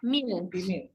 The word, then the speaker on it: Milch: Ya, di Milch. Di Milk. Ya. Milch. Milch. Oh, bacanya S, CH. CH. Milch. Ya. Kalau ya itu si CH tadi ya, kadang dia dibaca c, kadang dia dibaca h seperti ih.